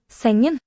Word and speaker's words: sengen: Sengen. Singing. And we don't really pronounce the G either.